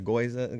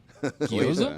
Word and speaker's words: gyoza: The goiza getting a little. No wasabi. gyoza.